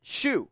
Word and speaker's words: Shue: Barry Kramer, Jerry Harkness, Gene Shue. I think is how you say it.